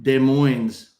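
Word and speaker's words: Des Moines: is from Tina and De Moines's the the S is silent according to the locals.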